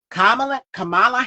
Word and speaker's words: Kamala: Kamala Harris, nice to meet you.